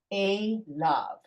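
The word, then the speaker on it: אֵלָיו: Remember, kamatz yud vav is you ignore the yud. That's just the way it's pronounced. Don't ask me why. The rabbis decided that's what they were going to do. So it's a lav.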